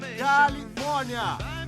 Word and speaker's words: Califórnia: é como um péssimo aparentemente estávamos enganados a pronúncia é Califórnia senhoras e senhores o governador do Estado da